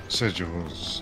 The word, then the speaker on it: sigils: you say it Sig sigils sigil it's pronounced with a j sigils yeah that sounds right